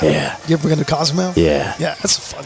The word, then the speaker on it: Cozumel: And who knew that leaving tonight we would know the correct pronunciation of Cozumel. That's what it is. It's It sounds like my cousin's email. It does. Cozumel.